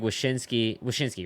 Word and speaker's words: Wyshynski: I saw Greg Wyshynski, right?